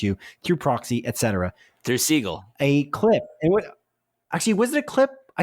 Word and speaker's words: Segel: That's probably why you say his name is Jason Segel, because you spelled it wrong. It's Segel, not A-L. You have it S-E-G-A-L here.